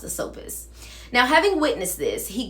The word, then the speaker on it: Asopus: the river god Sisyphus, or I think it's Asopus. I think it's pronounced Asopus.